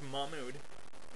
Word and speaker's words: Mahmood: You can break it up. It's a two-syllable name.